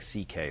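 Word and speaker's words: Szekely: It's S-Z-E-K-E-L-Y, and it sounds like C.K., though.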